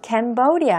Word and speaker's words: Cambodia: 또 캄보디아의 경우에는 Cambodia 해서 이음절의 강세가 들어갑니다.